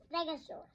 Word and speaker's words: stegosaurus: brachiosaurus stegosaurus stegosaurus how do you say that again stare go saw russ can you say it with me stare go saw russ stegosaurus so what do we